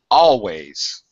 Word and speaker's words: always: third fourth whatever um always is always stressed on the first syllable alternative turer gets most